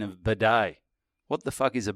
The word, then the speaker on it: bidet: That's how you pronounced it. No, I said Bodo. Bidet, yeah.